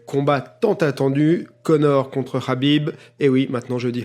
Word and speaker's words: Khabib: quasiment tous qu'habib donc moi j'ai pris l'habitude de dire qu'à bible mais puisqu'on me dis que c'est pas comme ça qu'il faut le prononcer yowlè qu'ils disent habib l'utilisera bib donc ça